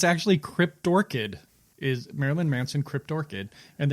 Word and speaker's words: Cryptorchid: kryptor kid Krypto I don't know how to pronounce that stroking out Derpy derp der uh it's it's actually cryptorchid is Marilyn Manson cryptorchid and then Marilyn Manson